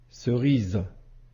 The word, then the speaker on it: cerise: maintenant quelques autres exemples cerise ici la lettre S se trouve entre I et E et la lettre S se prononce bien avec le Son ze s maison ici S